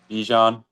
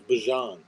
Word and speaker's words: Bijan: Bijan. Oh, it's Bajan.